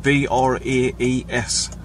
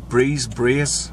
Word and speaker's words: Braes: I don't know how to say the second word, but it's Plum Braes, B-R-A-E-S. So I don't know how the Scottish pronounce it. Braes, Plum Braes.